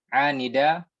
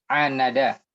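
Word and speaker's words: عاند: Amma man anida wa qabi. Bukan anida. Apa Ustaz? Nah. Bukan anida. Anada.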